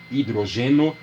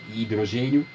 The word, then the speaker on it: hidrogeno: cátions pelos prefixos mono hidrogeno aqui é assim mesmo não é hidrogênio da embora a referência seja ao hidrogênio mas se escreve hidrogeno old hidrogênio ou ainda